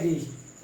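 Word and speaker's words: wrist: आपका यह है रैप, यह है रिंग, यह है रॉन्ग, यह है रिस्ट।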